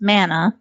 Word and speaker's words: mana: how i say it it's mana i say banana some people say weirdos